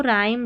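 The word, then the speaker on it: rhyme: देखो आरएच आरएच आरएच आरएच र पढ़ना है क्योंकि एच यहां पर साइलेंट है। एच का उच्चारण नहीं हो रहा है।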